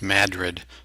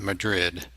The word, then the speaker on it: Madrid: there and the new madrid fault and it's pronounced madrid not madrid as us missourians call it um but anyway